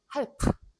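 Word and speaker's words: halb: 영어에서는 요 L이 묵음이어가지고 half 이렇게 되는데 독일어에서는 half 이렇게 됩니다.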